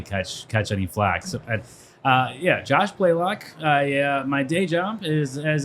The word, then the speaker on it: Blalock: a long A. I call you Blalock. A lot of people do. A lot of people do. Yeah. They don't see the Y after the A, and they think it's a softer. That's Blalock. It's Blalock. Yeah, So Blalock.